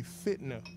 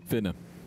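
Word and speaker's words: fit'na: The proper way to say that would be fitna. Fitna. Fitna. Thank you, Deacon Collins. F-I-T apostrophe N-A.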